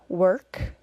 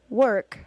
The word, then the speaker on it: work: you remember the word work work though it is spelled with an O R is pronounced as schwa plus R work so are you ready